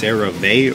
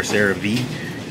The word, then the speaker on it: CeraVe: That's CeraVe or CeraVe. You can pronounce it whichever way you want to.